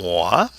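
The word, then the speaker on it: mois: then we have um mwah mwah a month or does that nasal sound mwah and the S is silent okay there's no e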